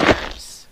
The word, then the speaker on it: herbs: Healing herbs. Cool. Herbs. Herbs. It's a silent H. I know it's silent H being silly.